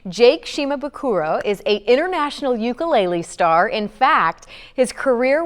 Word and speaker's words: ukulele: Jake Shimabukuro is an international ukulele star.